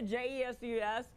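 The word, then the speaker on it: Jesús: If it's Jose, if it's Jesus in America, J-E-S-U-S, in Spanish, you speak Spanish. The J is pronounced H, so it's Jesus.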